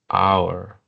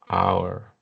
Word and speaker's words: hour: In this case, we have the eight sound that is silent. That it's silent, no sound. For example, hour, hour, hour, honest, honest, heir, heir, heir, heir, heir, heir, honor, honor, honor.